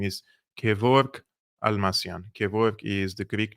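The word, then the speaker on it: Kevork Almassian: he or she wants to know how to pronounce my name my name is Kor almasian Kor is the Greek name of George if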